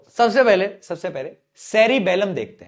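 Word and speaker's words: cerebellum: पोर्न्स है, एक है सेरीबेलम। बेलम, यहां पे भी स्पेलिंग पे गौर फरमा लेना। सेरीबेरम नहीं है। बेरम तो वह था थिंकिंग पार्ट। यह बेलम है। बेलन बेलन बेलम हां।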